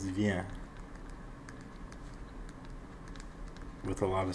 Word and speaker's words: vient: And for il et elle, it's vient. With a lot of silent letters.